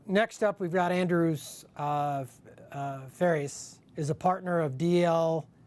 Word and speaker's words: Pharies: It's pronounced differently than it's spelled. It's pronounced Pharies. Pharies, like Tim Yes. Ferriss. Yeah, Okay. as in Ferris wheel, correct.